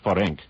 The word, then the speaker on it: Ferenc: So you'll actually pronounce it Nagy Ferenc.